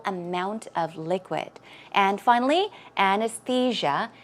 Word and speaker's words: anesthesia: of liquid and finally anesthesia it's Ana's see ya okay anesthesia anesthesia good job let's now